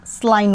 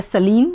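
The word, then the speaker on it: saline: We can't drink स्लाइन water, we can't drink स्लाइन water. स्लाइन मतलब खारा पानी, इसको सलाइन या सलीन दोनों ही तरह से प्रोनाउंस किया जाता है।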